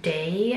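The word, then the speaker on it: Dae: And it's the brand Day, I guess is how you pronounce it, D-A-E.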